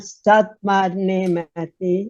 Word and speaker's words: Satu Mare: Satu Mare Yeah. is Romanian, Satu Mare is Hungarian.